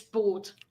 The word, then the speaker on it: Das Boot: Since Gambit is mentioning it and I keep hearing it mispronounced, it's not boot, it's boat.